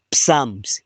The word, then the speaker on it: psalms: But unfortunately tukaingiza kiingereza saburi haistahili kutamkwa PMS. Inastahili kutamkwa psalms.